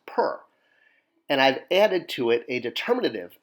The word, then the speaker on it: per: just the letters but it's still pronounced per because per is the Egyptian word for house all right so here